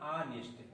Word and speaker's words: honest: तो सारी चीजें सही है, लेकिन जब इसका हम उच्चारण करेंगे प्रोनाउंसिएशन, तो हम पाएंगे ऑनेस्ट।